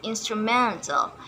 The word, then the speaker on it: instrumental: environmental and experimental and instrumental. The stress is not on the third syllable but on the fourth syllable.